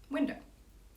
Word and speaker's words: window: So for example, the word window. The emphasis is on the first syllable because it's window. And so the first stress is window because the other option would be window. And I don't say it that way.